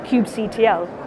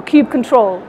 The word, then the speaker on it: kubectl: And you can interact with that API through a module called kubectl, or kubectl, depending on how you want to pronounce it.